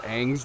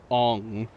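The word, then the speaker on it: Aang: work there you are Ang's name is ang it's not bloody on no matter what ight Shyamalan tried to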